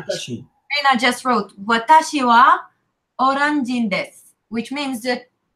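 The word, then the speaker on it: は: Yeah, it's written ha, but they say wa.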